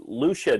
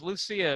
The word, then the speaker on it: Lucia: Well, let's get to the bottom of this, because Lucia is 3 syllables. Lucia would be 2.